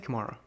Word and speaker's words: Kamara: How do you say it? I say Kamara.